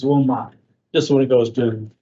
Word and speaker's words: Wilmot: Mont, yeah. Just when it goes to. A lot of people say it that way. I've heard it that way tonight, but it's Wilmot.